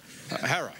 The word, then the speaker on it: Herer: shot by a cop Jack Herer have I pronounced it correctly Jack Herer Hara okay Jack Harris Jack who wear the jacket